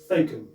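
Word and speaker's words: Thakeham: Thacum.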